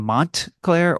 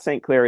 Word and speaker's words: Montclair: He's butchered my name, but Uh, no it's not St. Clair. It's Montclair.